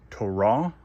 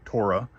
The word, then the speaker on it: Torah: This is the Hebrew word Torah or commonly pronounced Torah.